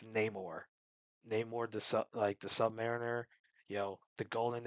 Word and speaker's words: Namor: Yes, it's pronounced Namor, not Namor. It's Namor.